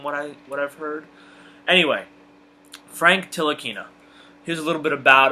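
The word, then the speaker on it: Ntilikina: right into it and I'm pretty sure I've got the pronunciation down for Frank Tillich inna I think that's how it's pronounced I think the the N is salad from what I whatever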